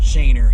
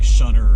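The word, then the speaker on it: Schoenherr: despite the fact that the road is actually pronounced Shaner here in Metro Detroit. People will give you funny looks if you pronounce it something else like Shunner or something like that.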